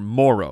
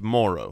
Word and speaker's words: Moreau: we were saying his his name incorrectly right it's spelled Moreau but no it's Foster Moro it's Moro okay the emphasis of the O is earlier